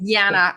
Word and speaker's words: Jana: Now I pronounce my name Jana. Sorry. Jana, apologies.